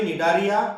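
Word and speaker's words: Cnidaria: तो बच्चों, phylum Coelenterata को हम कभी कभी निडारिया या निडरिया भी बोलते हैं। तो बच्चों, प्रोनाउंसिएशन कुछ भी हो पर आपको स्पेलिंग्स आपको याद रखना है, तो हम इसको निडारिया बोलेंगे।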